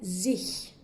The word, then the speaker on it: sich: Alors, en allemand, ce petit se ici correspond au sich. Essayez de retenir, pour faciliter la prononciation, le pronom ich avec un S devant, sich.